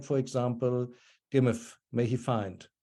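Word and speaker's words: gmm.f: this, like, for example, gimif, may he find, or probably gimaf actually in pronunciation. It's spelled G-M-M-F in the hieroglyphs. But yeah, something like gimaf must have been the pronunciation.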